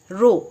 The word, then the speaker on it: rho: Okay, and it is written like the letter P. Okay, and it is spelled as rho, pronounced as rho.